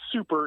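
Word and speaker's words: Soupa: But instead of the word super, it's spelled S-O-U-P-A. Super.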